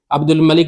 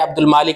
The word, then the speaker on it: عبد الملک: ساتھ بھی صحابہ تھے۔ عبد الملک بن مروان کو کہہ رہے ہیں عبد المالک بن مروان، تو ان کے تلفظ کی تو یہ حالت ہے۔ اچھا، یہ دوسرا جھوٹ